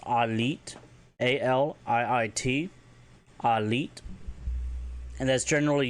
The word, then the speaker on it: aliit: If you want to say family, it's Alit, ALIIT, Alit.